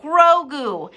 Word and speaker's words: Grogu: okay i anyways sir oh grogu thank you rayna grogu so that's how you pronounce it but i mean we